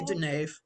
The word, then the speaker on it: Dunaif: Is that how you say it? Is that Yeah, right? that's pretty close. I say Dunaif.